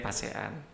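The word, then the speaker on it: Pesa'an: Wah itu ini pasean ya, sebenarnya ini pasean gitu ya bacanya.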